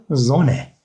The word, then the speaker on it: Sonne: Almanca'da iki sessiz harf kendisinden önceki sesli harfi kısa okutur arkadaşlar. Burada da iki tane sessiz harf olduğu için biz O'yu kısa okuyacağız. İki sessiz harf tek harf şeklinde okunur. Sakın Zone şeklinde okumayın. S'yi biz Z şeklinde okuyoruz dedik. O zaman ne oluyor? Zone. Zone. Bakın sonne değil ya da zonne değil. Tamam mı? Zone. Zone. Zone şeklinde okuyoruz.